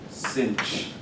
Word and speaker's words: sinh: sometimes they're called hyperbolic trig so this is pronounced cinch if you have contracts and sin checks the